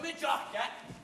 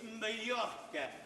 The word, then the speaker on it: Mallorca: Oh, we're going to Majorca. It's not Majorca, it's Mallorca. The J is silent.